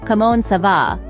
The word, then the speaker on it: comment ça va: It's pronounced comment ça va, with the N in comment barely pronounced.